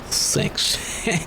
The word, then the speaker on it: CeX: Sex. Isn't the little jingle that they have for that shop, it actually says sex?